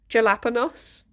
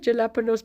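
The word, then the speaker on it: jalapeños: who got really wound up by people saying jelaponos and now I call them jelaponos so much that I have to actually think, wait, what are they called? Can I have jalapenos peppers, please?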